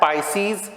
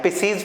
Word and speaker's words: पाइसीज: कौन कौन सी 2 super class है, पाइसीज और टेट्रापोडा। पाइसीज मतलब जिसमें सारी फिशेस आती हैं, पिसीज भी कहते हैं, अदरवाइज पाइसीज मैं प्रोनाउंस करता हूँ, पाइसीज और टेट्रापोडा।